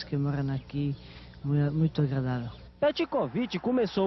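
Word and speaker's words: Petković: Pronunciei o meu nome é Petkovic. Como? É, vou repetir outra vez e não mais, Petkovic.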